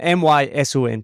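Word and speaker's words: Mỹ Sơn: up to Danang there's a place called Mison or Michonne I said this to my students the other day and they laughed at me because I said it wrong um my son two words and it's just outside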